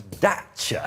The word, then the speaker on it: Dacia: They keep referring to themselves as Dacia. No, I think that's because that's how you say it in Romania where it's built.